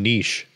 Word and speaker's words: niche: So what did we start saying niche? I don't know, because it rhymes with quiche. Like, isn't it niche?